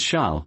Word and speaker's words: Charles: dear husband she replied Charles pronounced the French way as Sha looked like typical Euro